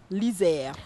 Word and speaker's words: Lyser: On a une page Facebook sous le nom de Lizère. Ok. ça s'écrit avec Y.